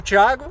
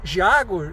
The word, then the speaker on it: Thiago: Porque geralmente falante de língua inglês não consegue entender o ti.